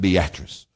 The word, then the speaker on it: Beatrice: It's spelled Beatrice, but they pronounced it Beatrice.